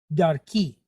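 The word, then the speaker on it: דַּרְכִּי: So we have the dalet, and it's pointed with patak and then a resh. But this patak is short duration. So that makes this shiva silent. Close the syllable. Dar. Dar. Then we have a kaf pointed kiri kyod ki. Dar ki.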